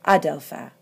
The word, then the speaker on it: ἄδελφε: in the vocative, and the accent is an acute on the alpha. It goes all the way back, even though in all the other forms, it's on the last syllable. So, Adelpha.